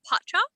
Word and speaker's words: Pacha: So it's Pacha. So Pacha. Pacha, but kind of pronounced like with the U.